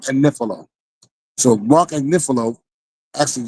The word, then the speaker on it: Agnifilo: She keep pronouncing Mark. I said that because she be saying that Mark Agnifilo, adding extra syllables on this man's name. His name is Mark Agnifilo.